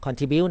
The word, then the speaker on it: contribute: charge คิดราคาเพิ่ม contribute นะ contribute นั่นแหละนะฝรั่งเขาไม่ได้ออกเสียง e เขาเสียออกเสียง eu นะ contribute นะ eu นะมีส่วนสนับสนุนนะมีส่วนสนับสนุนเพราะนั้นคำที่ให้กับบริบทก็คือรับกับบริบทก็คือคำว่า account นั่นเองแปลว่ารับผิดชอบต่อบอกว่าการส่งออกผลิตภัณฑ์ทางด้านนมเนยเนี่ยรับผิดชอบนะเพียงแค่ 5%